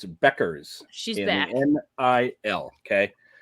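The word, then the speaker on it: Bueckers: It's not pronounced like Bob Euchre. It's Beckers.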